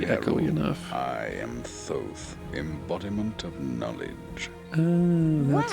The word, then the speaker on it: Thoth: I am Thoth, embodiment of knowledge. That's how you pronounce the name that was I there remember before reading on the about you whatever.